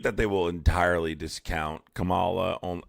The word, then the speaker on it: Kamala: So, I don't think that they will entirely discount Camala. A Kamla, sorry, let's pronounce Kamala's name correctly.